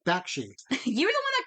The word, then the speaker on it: Bakshi: animated movie The 1978 by Ralph bans bans bansi I'm B bakshi you were the one that corrected me earlier I know just it just your your pronunciation just got stuck in my head Ralph buuny yeah um we're gonna discuss this um one